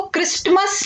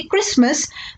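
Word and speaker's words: Christmas: में साइलेंट रहता है जैसे हम इसको क्रिस्टमस नहीं प्रणाम्स करेंगे इसे हम प्रोनाउंस करेंगे क्रिसमस बिगेस्ट इविल साइलेंट हम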